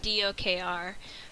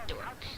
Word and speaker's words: DOKR: to be like, well, it's actually pronounced dork, but they're just gonna go with what they see immediately.